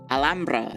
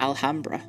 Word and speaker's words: Alhambra: found out today, there's Andalusia, not Andalusia, and also it's Alhambra, not Alhambra. I've been pronouncing it so whitely. Apparently it's... Andalusia is how you pronounce it.